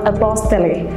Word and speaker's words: apostille: And also often people mispronounce the word like apostille or apostille. It is not like that, it is apostille.